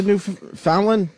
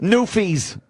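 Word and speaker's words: Newfies: on this nut let's let's keep it to New Fallon is that how you say it newes just say newes yeah new go after the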